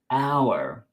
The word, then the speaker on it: hour: It begins with a consonant, but it's silent. We say hour.